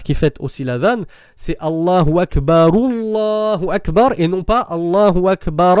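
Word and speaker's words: الله أكبر: et qui m'a dit lorsque tu fais la liaison des deux Allahu Akbar, le dernier ra de Akbar du premier Allahu Akbar, il se termine par quoi? Par une fatha ou une damma? Il se termine par une damma. Donc pourquoi tu reprends le Allah par une fatha? C'est censé faire le wasl. Donc normalement tu dois dire Allahu Akbar, Allahu Akbar.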